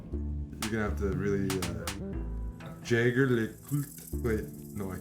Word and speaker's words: Jaeger: So I'll ask me, how do I pronounce it? Is it Jaeger or Jaeger? Jaeger.